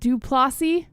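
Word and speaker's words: du Plessis: He said Plessis. Dricus Plessis, I think is how it's pronounced.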